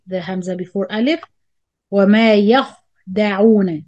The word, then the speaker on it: يخدعون: والذين آمنوا مد بدل again the همزة before ألف وما يخدعون make sure you do the رخاوة when you pronounce خاء ساكن يخدعون إلا مد منفصل again